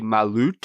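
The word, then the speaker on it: Malört: Lor called malort and it actually has a little like what's that called an umlout over the O so I don't even know if I'm pronouncing it correctly I believe it would be malut malut so so he sent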